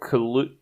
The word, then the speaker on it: Kaluuya: kind of the TV show, and it's Daniel Kaluuya. I don't know how to say his last name. Kaluuya.